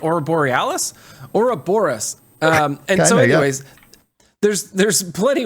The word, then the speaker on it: Ouroboros: Ouroboros. Like Aurora Borealis? Ouroboros.